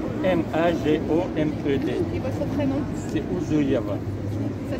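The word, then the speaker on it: Ouzouev: C'est Ouzouyev. Ça s'écrit aussi?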